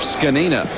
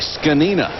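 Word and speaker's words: Zgonina: zg o n a scina sure makes sense to me well they always say just like it's spelled yeah right you know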